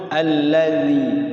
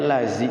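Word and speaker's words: الذي: dikoreksi sama guru itu kok bacanya lazim sih kalau lazim makan jadi jangan sampai tertukar sama Zayn sirotol ladzi bukan lazi jadi ujung lidah Aladin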